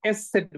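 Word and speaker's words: Eszett: যেটা আছে সেটা হচ্ছে এস সেট বলে এটাকে। হ্যাঁ, এস সেট, এস সেট, এস সেট। ওকে, এস সেট। তো এস সেটের যে উচ্চারণ সেটা হচ্ছে ডাবল এস এর মতো, এস সেটের যে উচ্চারণ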